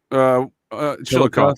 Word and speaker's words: Chillicothe: You know, they said that that is legitimately where Chillicothe, isn't that how it's pronounced? Chillicothe? Chillicothe, sir.